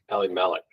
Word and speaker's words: Elimelech: Can you say it? Elimelech. Just like alternating syllables, you know?